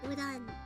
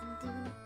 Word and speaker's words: udon: uh somebody looking for udon noodles, but uh they didn't know how to pronounce udon, so they're calling them undo undo the noodles.